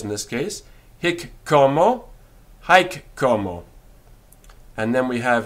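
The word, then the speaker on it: haec: who yes hominis so hick como hike cuomo but spelt hic and then homo and hike como spelt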